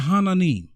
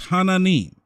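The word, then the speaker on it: 하나님: they look at me like who i said hananim hananim is god in another language in another language and the korean the korean bible is hananim and they believe in jesus right they believe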